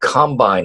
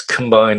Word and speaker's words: Combine: Yeah, which now I guess we should we'll get to this later, but it's Combine, it's not Combine, right?